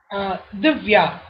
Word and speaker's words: Dhivya: Divya. Divya. Divya, that's it. My name contains just only two syllables and it's very easy to pronounce.